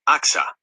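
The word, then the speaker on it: Achsah: Her name is pronounced Axa.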